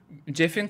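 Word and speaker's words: Geoff: Jeff diye okunuyormuş lan bildiğimiz.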